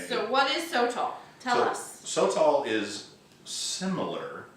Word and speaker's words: Sotol: And today we are using Sotol. Sotol. Or haven't we heard it pronounced different ways? I looked it up, Sotol? and they had like a genuine, actual Mexican on the YouTube video saying Sotol.